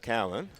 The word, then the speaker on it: Cowan: who who was Edith Cohen I've been wondering that well you are saying it wrong it's Edith Cowen Cowan right there we go that